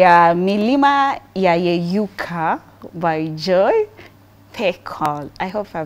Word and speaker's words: Pekol: Tonight pronounce it. Joy Pekol. Hey, I was right. You are right.